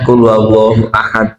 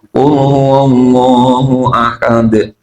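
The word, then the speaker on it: قُلْ هُوَ اللَّهُ أَحَدٌ: saya pernah merasakan sendiri harusnya qul huallahu ahad itu dibacanya dengan benar qul huwallahu ahad tapi karena tidak ngerti tentang mad arid syukur akhirnya jadi imam itu qul huallahu ahad karena tahunya setiap akhir berhenti harus panjang.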